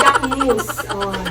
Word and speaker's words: Jacquemus: this bag It's called Jacquemus Pj said it's Jacquemus Jacquemus It's the right pronounciation It's so small As in Look 200